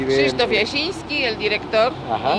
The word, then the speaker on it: Krzysztof: Krzysztof Jasiński y Edward Chudziński. No puedo pronunciarlos bien. Krzysztof Jasiński.